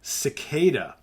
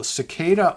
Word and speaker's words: Ciccada: We've got Cicada Harvest. That's Cicada spelled with a C-I-C-C-A-D-A, Harvest.